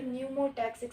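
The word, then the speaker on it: pneumotaxic: करता है, और ये न्यूमोटैक्सिक सेंटर है, ठीक है। न्यूमोटैक्सिक, यहाँ पे पी साइलेंट है, इसको न्यूमोटैक्सिस हम पढ़ रहे हैं।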